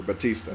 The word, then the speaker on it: Bautista: like his wrestling character Batista Batista Isaac am i okay just pronounce it like his wrestling persona because that's why I